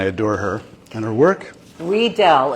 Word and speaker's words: Riedel: Riedel, it's a German company, so the IE Oh. is pronounced E.